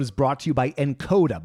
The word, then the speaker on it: Nkoda: This episode is brought to you by Encoda. By the way, that's spelled Nkoda.